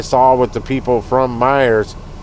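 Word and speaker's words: Meijer: grind for the dollar doing shops from Meyer grocery stores, but it's not spelled like m e y e r. It's like m a j i e r or whatever.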